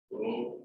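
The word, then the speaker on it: ρ: That is P was square. It is pronounced as rho.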